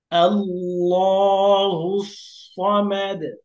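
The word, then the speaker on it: ٱللَّهُ ٱلصَّمَدُ: হুস আল্লাহুস সদ ফাতহা স আল্লাহুস মিম ফাতহামা আল্লাহুস সামাদ দাল দমাদু আল্লাহুস সামাদু ওয়াকফ করলে আল্লাহুস সামাদ। সদ হল মোটা হরফ। এজন্য সদটাকে আরেকটু মোটা করে বলতে হবে। আল্লাহুস সামাদ।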